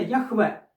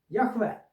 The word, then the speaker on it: Яхве: А оце дрвня арамейська на Древній арамійській мові це читається яхве оце перша буква друга третя четверта яхве ось оці крапочки вони